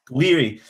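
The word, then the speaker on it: Gouiri: Two goals from uh, how do you pronounce his name? Is it Guiri Jiri Guiri? Guiri.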